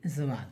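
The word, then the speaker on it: ضاد: बाज़ लोग इसे दवाद भी पढ़ते हैं लेकिन आप देखिए कि ज़वाद ज़हीफ़, तो इसकी प्रोनाउंसिएशन ये ज़वाद है।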